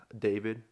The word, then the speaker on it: D4VD: So I listen to a lot of Zach Bryan and David. Do you know who David is? Oh yeah, like D4. D4VD. Yeah. It's pronounced David.